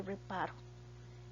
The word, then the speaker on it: reparó: esta otra preparo verdad no es lo mismo decir reparo que reparó el acento está en la última sílaba y se tilda porque